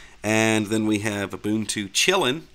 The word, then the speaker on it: Kylin: then we have auntu chilling I know that's how you say it believe it or not looks like kylin to me but that is a